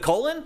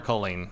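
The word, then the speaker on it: Kolin: Don't ask me why, but it is pronounced Colleen.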